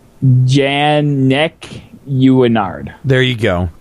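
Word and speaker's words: Jannequinard: Janicanard? Huh? Janicanard? Janaquinard? Janacanard. Janaquinard. Janak. Okay, it's actually pronounced Janek Uinard. There you go. It's a little bit. It has a little bit of French in it.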